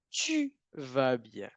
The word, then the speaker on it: tu vas bien: Tout va bien, tu vas bien. ¿Cuál es la regla de pronunciación ahí?